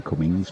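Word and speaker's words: Cummins: is one from one no G in Cummings but it's a force of habit trying to pronounce Cummings B bumra to ball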